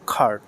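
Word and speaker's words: car: নেই দেই don't have খার দে ডোন্ট হ্যাভ খার এখানে সি এর উচ্চারণ কর মত করে করা যাবে না খর মত করে করতে হবে এই যে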